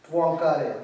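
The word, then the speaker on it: Poincaré: Poincare. The last E, for example, pronounced like A, Poincare, and O-A-N is a Poin.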